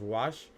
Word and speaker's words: Wach: WACH. I believe it's pronounced Wash.